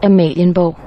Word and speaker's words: Amalienborg: I'm gonna read it off in my best approximation of how you're supposed to pronounce it, and then I'm gonna insert the voice of the Google synthetic voice in Danish, saying it correctly. So to me, this place is called Amalienborg. Amalienborg. According to the Google voice, it's pronounced Amalienborg.